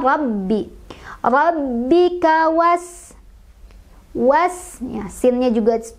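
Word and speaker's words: رَبِّكَ: Rabbi, baknya punya tasdid jadi kita agak tekan bacanya. Rabbi, rabbika was, was, ya, sinnya juga punya sifat hamas jadi kita alirkan udaranya.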